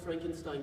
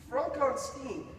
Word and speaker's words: Frankenstein: Frankenstein. Are you putting me on? No, it's pronounced Frankenstein.